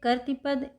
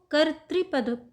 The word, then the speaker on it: कर्तृपद: यह इसमें ऋ की मात्रा है नीचे तो इसको कर्तृ पद पढ़ते हैं ना कि कर्तृ पद। कुछ लोग कर्तृ पद पढ़ते हैं। वो सही नहीं है।